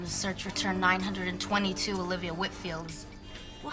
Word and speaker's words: Whitfield: Hi, I have a meeting with Olivia next week and just wanted to get the pronunciation of her last name correct. Whitfield? Whitfield.